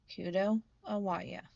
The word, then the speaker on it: Kudo Awaya: And for anyone who's curious, the proper pronunciation of the full name is Kudo Awaya.